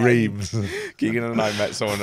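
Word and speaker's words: Reims: Would you say a rem as well rather than reams?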